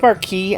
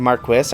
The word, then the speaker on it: Marquis: Oh, and for the pronunciation correction crowd in the comments, both Marquee and Marquis are valid pronunciations depending on context.